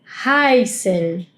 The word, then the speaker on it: heißen: Y acá, si observaron, yo estuve pronunciando la E I como "ai". Reise. Heißen.